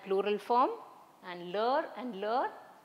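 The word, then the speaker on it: leurs: form and ler and ler both are pronounced the same although we have an s here so both of these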